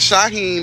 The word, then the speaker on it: Shaheem: really appreciate it and my name is Shaheem that's how to pronounce it Shaheen CV and I'm